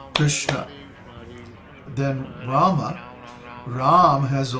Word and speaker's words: Krishna: the vowel is a so the word is pronounced I'll do that again in other words it's three patas law similarly the word Krishna is only two Potter's law because each of